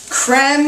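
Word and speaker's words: crème: Our Philadelphia cooking creme is really the way this should be pronounced. Like creme fresh or creme brulee. But it's so thick and creamy and delicious that I say cream.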